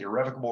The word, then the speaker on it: irrevocable: exclusive and irrevocable right yes that's how you pronounce it irrevocable right to lease or